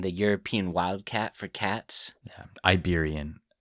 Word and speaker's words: Iberian: Iberian. Iberian lynx, not Liberian.